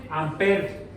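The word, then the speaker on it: ampere: tienen unidades corriente eléctrica en buen físico amper no se pronuncia la última Aunque podemos decir de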